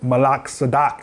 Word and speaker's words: Melchizedek: But basically, the order of Melchizedek, or Malak Sadak, is how you say it in the Hebrew tongue, was the original call